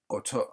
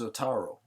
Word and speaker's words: Otaro: the mystery of who Otoro. I think I didn't actually, I didn't say his name. His name is Otaro. Otaro. Yeah, that's his name.